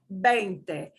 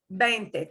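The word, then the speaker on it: veinte: n t e is bente bente think of that vein in your arm bente bente s like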